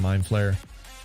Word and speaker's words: Mind Flayer: Oh, Demogorgon and Mind Flayer. I think it's not. It's like to flay, not flare necessarily.